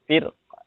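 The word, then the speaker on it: فِرْقٍ: Di kata firqin ini saat wasal saja, tapi kalau saat waqaf itu dibacanya tipis. Firqa.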